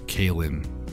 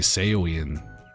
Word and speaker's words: Kin: watch out for that it's pronounced kin okay kin I was going to say Sean Sean but they that would have been wrong hey mongie what's up